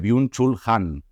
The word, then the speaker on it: Byung-Chul Han: luz del pasillo nosotra que vida contemplativa de biun chul han me han dicho que está bien pronunciada en castellano así que me quedo tranquilo